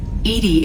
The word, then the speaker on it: EDI: are you named Edie Edie is the phonetic pronunciation of EDI that is an acronym just yeah that's right okay how are you getting along with Joker mr.